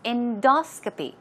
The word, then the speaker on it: endoscopy: example okay now pronunciation stress goes right there on the second syllable it's endoscopy endoscopy all right okay let's check